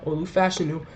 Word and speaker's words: Olu Fashanu: go a player who I think, even with Olu Fashanu being on the board, that's how you pronounce his name now, Olu Fashanu, even with Olu Fashanu being on the board at 10, or if